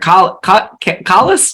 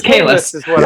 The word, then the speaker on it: Kahless: This novel, Star Trek Kallus? I always say Kahless. It's Kahless. It's Kahless.